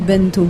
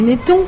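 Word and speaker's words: Benetton: oh c'est cuit Beneto pourquoi tu dis Benton parce que je ne veux pas faire la publicité pour les pulls du même du même c'est Beneton oui mais bon V savez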